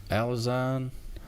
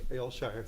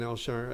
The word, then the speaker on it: Elshire: Victoria uh um alazine I don't know how to say your last name here step sorry I butchered that up it's Al sh alshire thank you okay my name is Elshire Athens Georgia I support